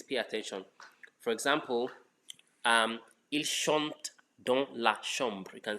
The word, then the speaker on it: chante: So don't pronounce the last ENT in any conjugation. It's silent. Just pronounce the last consonant before it.